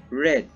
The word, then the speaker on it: read: hurt heat spelling of the verb read does not change but its pronunciation changes the pronunciation changes from the long e to short e sample read red some irregular verbs change